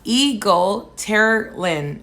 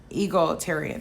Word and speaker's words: egalitarian: community goes um uh eagle tara lynn oh i said it wrong i just never heard of that jujo uh you said e gal terror in egalitarian i'm gonna work on